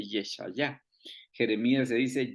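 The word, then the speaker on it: ישעיהו: Por ejemplo, Isaías en hebreo se dice Yeshayah, Jeremías se dice Yirmeyah, pero en el caso de Daniel sí es igualito.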